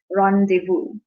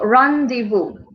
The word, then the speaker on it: rendezvous: As you can see, this word, the way we pronounce it is rendezvous. Okay, so rendezvous. The Z is not pronounced. The S is not pronounced.